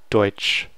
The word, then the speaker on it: Deutsch: EU is oi. Oi. So this will always be pronounced as oi. Deutsch. Ch. And now you're going to see the TSC. So TSC is ch. This is more like the English sound, the sh. Deutsch.